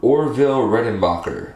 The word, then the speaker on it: Orville Redenbacher: these uh i'm going to butcher this or orville redenbacher oh no i actually said it right um